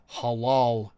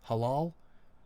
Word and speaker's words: halal: So halal is that the way we're supposed to say it in English? Halal. Well, in Russian it's halal.